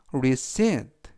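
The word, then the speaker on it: receipt: 하면 영수증이라는 표현이 되겠고요 이때 발음에 유의하실 점은가 음이라 발음이 되지 않습니다 그리고 강는 C 뒤에 있는 이의 강세가 있고요 그래서 resit라고 발음하시면 좋겠습니다 맨 앞에 있는 can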